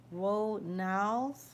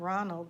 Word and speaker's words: Ronals: Orange, Shadrick Reed, Patience Ronals. It's not Ronald, it's no D. It's spelled Ronals.